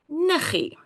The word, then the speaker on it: niggie: Niggie. See, also, when we write it down, we've got the double G. But when we say it, it is niggie.